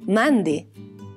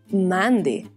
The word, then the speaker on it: mandi: La expresión hola en friolano se dice mande. Manti, mande.